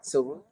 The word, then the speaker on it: Cirulo: Did I say it right? Cirulo? Yes, you did.